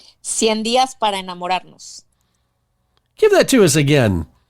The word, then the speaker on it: 100 días para enamorarnos: you give us the Spanish one so it's pronounced correctly. 100 días para enamorarnos. Give that to us again. That sounded so sweet. It's called 100 días para enamorarnos.